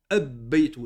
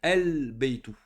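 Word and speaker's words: البيت: On ne peut pas dire ici ab-baytu. Là, on doit le prononcer el-baytu.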